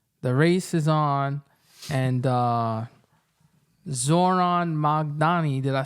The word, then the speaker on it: Zohran: Zohan. Yeah. But it's Zohran.